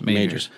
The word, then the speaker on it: Magers: Can you talk about, and help me with the pronunciation of the last name, Greg, is it Magers? Majors.